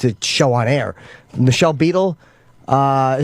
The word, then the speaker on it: Michelle Beadle: Michelle Beadle, is that how you say her name?